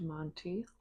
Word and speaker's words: Monty: She's got an orange cat named Monty. Monty, and the author's name is Kate Conti, so it rhymes with her last name.